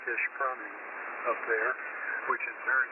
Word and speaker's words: Ishpeming: We stay at a little Airbnb in Ishpeming, or I think it's pronounced Ishpeming, up there, which is very near the old abandoned elf facility.